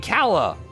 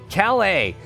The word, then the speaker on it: Calais: out there alle alle oh yeah I'm terrible pronouncing you should know this about me you heal Kella that's what's saying Calla Calais Calais gotcha eh you can't put that whatever